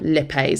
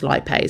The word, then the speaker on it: lipase: help of the enzyme lipase sometimes pronounce lipay but you can say either or just make sure you